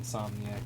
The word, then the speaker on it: Insomniac: yes, it's pronounced Insomniac, but I know.